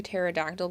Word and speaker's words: pterodactyl: Can't you hear a pterodactyl going to the bathroom? Because the P is silent.